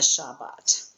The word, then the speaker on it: Shabbat: And you can hear it even if you say a fast Shabbat. You always hear that first bait. Um you don't go shabbat shabbat. It's shabbat. You can hear it if you when you say it.